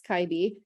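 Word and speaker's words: 갈비: pronounce things before the school i wouldn't have pronounced it that way me either so yeah it's kyby and what's interesting is um nowadays like when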